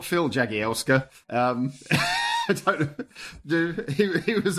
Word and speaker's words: Jagielska: The main reason that I haven't done it is because I have no idea how to pronounce Jagielska. It's Jagielska.